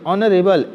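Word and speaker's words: honorable: अब देखिए गौर कीजिएगा, ऑनरेबल एच आ रहा है, लेकिन प्रोनाउंस कीजिए, प्रोनाउंसिएशन में क्या आ रहा है आपका, वो बहुत मायने रखता है, नहीं तो फिर आप गलत कर जाएंगे। एच है, एच आपका एक्चुअली में है क्या, वॉवेल है या कॉन्सोनेंट है? है कॉन्सोनेंट, लेकिन इसका जो प्रोनाउंसिएशन आ रहा है ना वो अ से आ रहा है।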